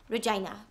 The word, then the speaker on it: Regina: Well, Regina. But if you say to someone your name's Regina, they tend to say, wow, that rhymes with vagina, which it does, but...